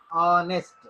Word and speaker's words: honest: H silent. దీని pronunciation honest. Honest ఆ vowel sound. So we have to right an honest.